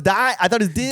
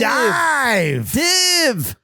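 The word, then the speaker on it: DIIV: I thought it was Div. Dive.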